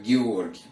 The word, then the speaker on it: Георгий: И отсюда мы, когда назад это слово берем, мы уже его произносим как Георгий, потому что у нас Г мягкое не звучит как йод.